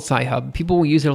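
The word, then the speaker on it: Sci-Hub: also a website that rhymes with cry hub um that people use um okay it's called sci hub people will use it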